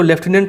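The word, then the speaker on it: lieutenant: फिर लेफ्टिनेंट, इसको लेफ्टिनेंट pronounce करते हैं, ठीक है।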